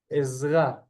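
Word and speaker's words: עזרה: Ezra. We have the ayin with 3 dots, making it an eh.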